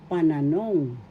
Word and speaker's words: pananong: Pantukoy na pananong pananong. Pananong means interrogatives. First syllable pa. Second syllable na. Third syllable nung. The third syllable has the accent panong panan interoges in